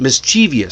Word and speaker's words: mischievous: So, the pronunciation stayed short while the spelling got fancy. When our eyes see the spelling, we think that we need to add those extra syllables. Guess what? You don't. That's why it's written. The written form tempts people to add a syllable that was never meant to be spoken. Just remember it's three beats.